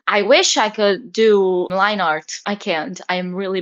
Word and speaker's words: line art: By the way, I just recently found out that line art is pronounced line art because before I had been pronouncing it linear.